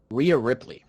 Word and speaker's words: Rhea Ripley: Yeah, so right here we have, it was Chelsea Green getting eliminated by, how do you pronounce her name? Rhea Ripley? Rhea Ripley.